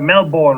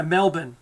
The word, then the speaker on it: Melbourne: god an open yeah Melbourne that's what we say Brisbane Melbourne that's how we pronounce them here if if you're anyone else you get as a male born and you know you're going to stand out you don't to do